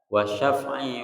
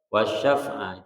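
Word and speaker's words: والشفع: Jadi boleh dibaca wasyaf'i wal watr. Wasyaf'a itu yang pertama, yang kedua wasyaf'i wal witr boleh.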